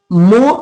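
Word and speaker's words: mho: मो या कहीं-क मोह लिखा मिल जाता है। आधा मू लिखा होता है। इस तरीके सेकि अंग्रेजी में इसको एम एच ओ लिखते हैं। मो को एच साइलेंट होता है।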